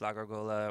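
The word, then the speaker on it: La Gárgola: La Gargola. Am I pronouncing it right? Sure. Sure. In Spanish it's La Gargola or the Gargoyle in English.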